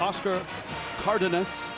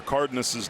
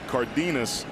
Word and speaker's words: Cardenas: i love that you pronounced oscar cardinis's name right we are here in san antonio you think it would be cardenas but it's not it's the way that he pronounces it but he was the